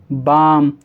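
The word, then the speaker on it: balm: एल दे रखा है, तो इन सही वर्ड्स के अंदर एल को नहीं पढ़ा जाएगा, यानी एल साइलेंट है। तो हम इसको कैसे पढ़ेंगे? काम, बाम, पाम, आमंड। ठीक है, कुछ लोग उसे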